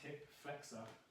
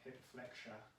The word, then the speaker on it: hip flexor: That's pronounced hip flexor, not hip flexure.